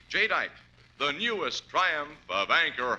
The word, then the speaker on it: jadeite: Remember the name Jite. That's spelled J A D E I T E. Jite, the newest triumph of anchor hawking.